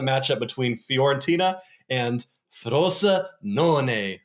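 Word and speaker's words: Frosinone: looking at the match up between Fiorentina and frosa non right Ian thosa correct and I have to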